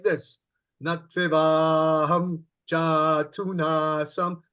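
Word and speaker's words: जातु: So we've got Jatu. Jatu. Yeah. Now, normally we would say it like this. Nativaham jatu nasam. See, we say it like this, you see. The proper pronunciation, Nativaham jatu nasam. Go ahead.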